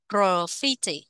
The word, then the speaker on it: graffiti: nhưng mà cái này tiếng Anh nó đọc là nhấn vào â2 nhé graffiti graffiti graffit Guilty Guilty Guilty